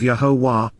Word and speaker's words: Yahowah: so and in addition yahwah yahwah the proper pronunciation of yahwah oura God has directed in his Torah teaching